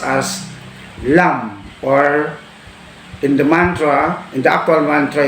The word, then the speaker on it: lam: The Indian mantra sound is pronounced as lam, or in the actual mantra, you can say lam, lam.